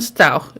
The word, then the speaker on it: Stauch: okay here we go style pronounced like ouch not r sound i don't think i